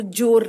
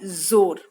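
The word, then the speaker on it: ज़ोर: जोर की आंधी आई, जोर का हल्ला हो रहा था, जोर लगाना है, इसको जोर नहीं बोलेंगे। ठीक है, जोर लगा के नहीं बोलेंगे, जोर लगा के। उच्चारण है जोर।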